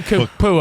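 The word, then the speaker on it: Nacua: Puka Kapua.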